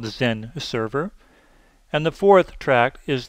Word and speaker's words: XenServer: Now, all of their products that start with an X actually are pronounced with the letter Z in front.